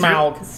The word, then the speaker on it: Smaug: Smaug. That's how they say it in the movie.